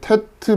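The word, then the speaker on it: טית: 자, 이거는 이제 T 발음 정도. 우리의 티읕 발음 이렇게 생각하시면 되고요.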